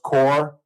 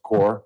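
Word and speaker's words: Kaur: you mind pre-core and her name is pronounced core for other folks that work on this radio station. It's pronounced core.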